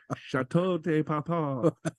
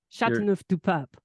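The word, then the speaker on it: Châteauneuf-du-Pape: Joe would like to try out his French pronunciation. Al: No. Skip this part. No, no. Joe: St. Carine. Chateau. Chateau de Papa. Andi: Sancerre. Gigondas. Chateauneuf du Pape.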